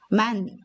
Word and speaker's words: 많: 히읗은 소리가 나지 않습니다. 니은이 하나 있는 것과 소리가 같습니다. 만이고요. 니은 히읗도 얘처럼 만이라고 읽어줍니다. 자, 끄 밑에 니은이 하나 있어도 끈이고요. 끄 밑에 니은에 히읗이 있어도 끈이라고 있습니다. 읽어보겠습니다.